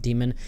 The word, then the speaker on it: Daimon: spelled similarly to demon you sort of pronounce it I guess like demon see here's the thing I'm pronouncing it Diamond I I that's the